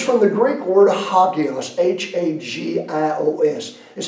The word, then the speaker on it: hagios: He says, from the Greek word hagios, H-A-G-I-O-S, is how we'd spell it in English.